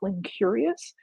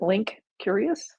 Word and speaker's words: Linkurious: There are, and I probably should have included those in the resources, but there are companies like Linkurious, which is spelled with a K, Link Curious, if you will, that has a lot of visualizations to help see graphy data.